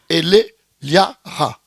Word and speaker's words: Elleliara: écrit, Miguel bien écrit, comme il prononce, c'est pas bon. Non, alors c'est Eliara.